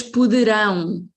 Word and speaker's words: poderão: As pessoas poderão. This is the strong syllable.